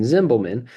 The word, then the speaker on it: Zimbelman: So like in Zimbelman, you don't really hear the E in the middle of my name.